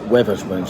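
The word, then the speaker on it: Wetherspoons: So I'm in the river spoons of or Weather Spoons actually as it's pronounced of Red Line in that the famous pub that I actually had a photograph with Tim Martin the chairman.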